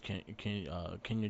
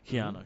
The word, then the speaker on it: Kiana: We got Shansi versus Kenya James. I always say her name wrong. Kiana. Hmm. Kiana James. There you go.